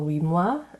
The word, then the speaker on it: huit mois: And then the T on 8 mois, the T is silent there.